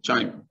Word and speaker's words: chyme: It's called chyme. Some people pronounce it as chyme, C-H-Y-M-E, some.